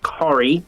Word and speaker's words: Carey: My name is Carey. I am also known as Kari. That's how you pronounce it.